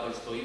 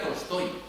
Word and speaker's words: Tolstói: Se pronuncia Tolstoy, no Tolstoy. Aquí en España decimos León Tolstoy, pero es Tolstoy, Lev Tolstoy.